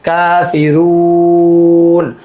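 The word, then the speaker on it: كَافِرُونَ: পেশের পর জজমলা ওয়াও, মাদের হরফে বামের হরফে ওয়াকফ হয়ে গেছে, এইজন্য 3 আলিফ টান। কাফিরুন, কাফিরুন।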